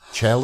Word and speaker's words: Chell: Now, rather interestingly, his name rhymes with hell. Chell and hell.